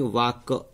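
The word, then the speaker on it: walk: डब्ल्यू ए, तो यहाँ पे एल, वाक, इसको बोलेंगे वाक, क्या बोलेंगे इसको, वाक, वाक, इसमें एल का उच्चारण नहीं हो रहा।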